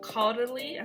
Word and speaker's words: Caudalie: starting with moisturizer i'm going to use the caudalie i think that's how you say it uh